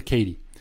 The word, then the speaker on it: Katy: Well, let me tell you about the 1890s and this fast-growing, cutting-edge technology company, the Missouri-Kansas-Texas Railway, pronounced the Katy.